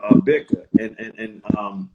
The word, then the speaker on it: Bika: You know, and it's B, how we pronounce it is like BK, like Brooklyn, but there it's called Bika in Brazil, and I think Bika is dope.